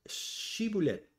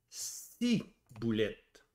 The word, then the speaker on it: Shibboleth: Alors il lui disait "d donc chiboulette", mais il disait si boulette car il ne pouvait pas bien prononcer.